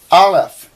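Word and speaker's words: aleph: bait but Resh are alef they they actually say it's a silent letter and you don't uh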